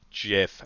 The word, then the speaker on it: GIF: For now, we are going to pronounce it Jiff, even though everything in my body tells me that's wrong. The guy who made the GIF format pronounces it as GIF, and he's just as wrong.